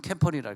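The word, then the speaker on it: camper: 캠프 캠프를 치고 끝내는 사람 캠펄이라. 캠펄. 응. 미국 발음은 R을 꼭 발음합니다. 다른 건 뮤트가 있지만 R은 뮤트가 없어요. R 발음은 꼭 하고 지나가야 돼. 영국은 알바음 안 해도 미국은 알 캠퍼.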